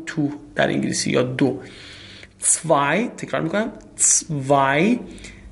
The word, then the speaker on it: zwei: zwei تکرار میکنم zwei زد رو دوستان در هم ست رو به صورت سه تلفظ میکنم zwei شما حتما تکرار